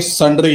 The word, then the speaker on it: sundry: ये भी नहीं पता ये सन्ड्री है। कुछ लोग इसको अभी भी सुंदरी ही पढ़ते रहेंगे।